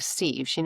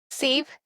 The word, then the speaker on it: sieve: Is that how you pronounce it? It's the thing that you would pour noodles into and the water goes out, but the noodles stay in. Save? Sieve. Okay.